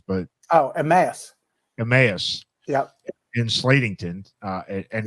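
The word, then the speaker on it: Emmaus: how do you say it I called it Emos but oh aass EMAs yeah in Slatington uh and now Elizabeth Town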